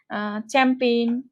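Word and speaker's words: champagne: কিছু শব্দ আছে যেখানে জি এর কোনো রকম উচ্চারণ থাকে না, যেমন হচ্ছে চ্যাম্পেইন, ক্যাম্পেইন।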